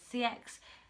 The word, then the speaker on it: CeX: I like to call it KEX. That's how I pronounce it. A lot of people say CX, or people pronounce it other ways.